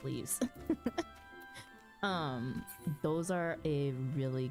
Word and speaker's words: leve: leaves the Lev like if you call them levies the l e v e quest leaves they're pronounced leaves um those are a